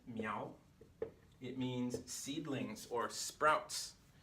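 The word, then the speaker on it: 苗: Miao is very similar to mao, right?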